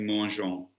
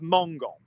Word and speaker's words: mangeons: Nous mangeons. How would you spell that, please? Mangeons. Good, because if we stuck to the literal ending, you'd have mongon, which is altogether different.